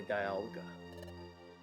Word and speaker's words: Dialga: of the temporal tower which was governed by dialga Dialga that's how you're supposed to pronounce it silly he is the legendary pokemon